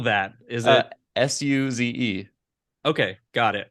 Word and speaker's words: Suze: Is it Suze? Okay, got it. I was thinking like almost like sous, like French, like sous vide.